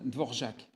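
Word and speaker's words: Dvořák: La symphonie du Nouveau monde d'Anton de Vorjacqu. Alors, je suis pas comment on pourrait dire TCK. Ça s'écrit de Vorac, mais je crois que ça se prononce de Vorjac.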